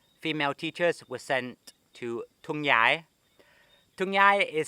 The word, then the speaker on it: Thung Yai: pronounced thung yai because the th in english is pronounced but in thailand the th is a t so for the first